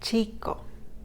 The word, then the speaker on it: chico: It has its own sound. It's not like the K or C. It has its own sound, like chico.